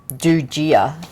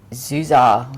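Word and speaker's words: Du Già: I was saying Dujia, and it's actually Zuzar or something like that.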